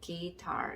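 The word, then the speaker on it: guitar: 영상에서 한번 언급을 드렸었는데, G가 있고, 그 다음에 U가 있고, 그 다음에 그 뒤쪽에 모음, 특히나 이제 I 같은 경우 모음이 나왔을 경우에 U는 소리가 나지 않는다.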